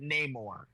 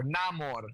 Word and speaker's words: Namor: he goes to fight Namor. Or Namor. There you Namor go. the... Because if I don't say it how they say it in the fucking MCU, Robert's gonna pop a, Well, you know, pop a casket.